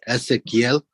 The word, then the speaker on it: Ezekiel: And am I pronouncing your first name correct? No, it's Ezekiel.